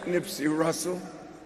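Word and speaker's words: Nipsey Hussle: I thank Nipsey Hussel.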